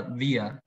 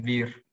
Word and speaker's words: wir: Cuando la R está al final de la palabra, se pronuncia como una A. Bueno, esto con matices, ¿no? No es que la R se pronuncie como una A, pero es como una... Es decir, si uno escucha la palabra vía, que significa nosotros, claro, ellos no dicen vir.